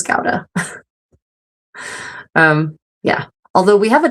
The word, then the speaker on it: Gouda: In America, everyone pronounces it Gouda, but I've been told by my Dutch friends anyway that the correct pronunciation is Gouda.